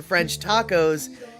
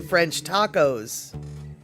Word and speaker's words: French tacos: Apparently, when it comes to French tacos, you always pronounce the S, even if you're only referring to one French tacos.